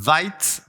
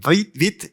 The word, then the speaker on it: Vite: And Vite, I hope I pronounce it French, because it's French, is French, and it was created and started by a guy called Evan Yu.